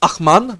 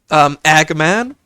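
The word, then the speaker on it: ag man: Well, technically this is pronounced Achman, not Agman, which translates to O man. Ach is the Afrikaans equivalent to O, true. Like the German Achtung. Man is pronounced as Mun in Munches. It's more Man, like M-A-H-N rather than M-U-N.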